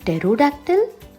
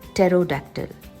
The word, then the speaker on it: pterodactyl: Do you think it's a baby pterodactyl? Dodla asks Puchku. He likes the word pterodactyl. The P is silent, like a secret.